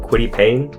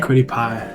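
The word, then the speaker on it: Kwity Paye: I I may mispronounce this, but Quitty Payne Quitty. Quiddy pie. Pie.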